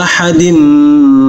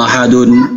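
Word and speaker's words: أحد: Ahad. Jadi kalau berhenti jangan qul huwallahu ahadun. Itu tidak bagus.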